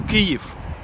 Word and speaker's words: Kyiv: Negro the city calls give not Keefe not nipple because we have two kinds two kinds of pronunciation Russian one and Ukrainian one so in USSR it